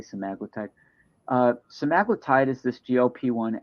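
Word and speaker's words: semaglutide: drugs um some maglotide semi-glutid people pronounce it different ways I say some magical type uh somalotide is this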